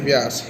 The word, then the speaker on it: Beas: इस रिवर को कहते हैं ब्यास रिवर, BEAS इसका नाम होता है, बोलते हैं व्यास, हिंदी में कहते हैं व्यास रिवर।